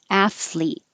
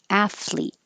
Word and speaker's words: athlete: the th f fleet as soon as it gets behind your teeth start making the l sound athlete athlete pronunciation pronunciation and that